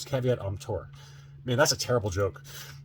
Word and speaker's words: caveat emptor: So buyer beware, caveat emperor. Is that how you say it? No, it's caveat emptor.